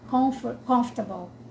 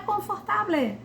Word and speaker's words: comfortable: Na hora de falar, confortable. Não é confortable, comfortable. Então se a gente for pensar, o silábico seria confortable. Seriam 4 sílabas, né? Como é que a gente diz aí? Comfortable. É quase como se fosse 2 sílabas. Então desconstruir isso de que é silábico.